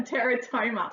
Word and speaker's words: teratoma: Oh, what's a teratoma? Is that how you say it? Yes, a teratoma.